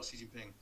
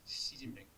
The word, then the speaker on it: Xi Jinping: No one dares tell Xi Jinping that and it's pronounced like the female pronoun she, right? Not Xi or he or however people X. That's not a Xerox X, that's a SH X. Xi Jinping.